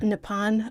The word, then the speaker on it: Nippon: Nikon center it's Nippon nepon okay nepon is how you say Japan in Japan oh I didn't know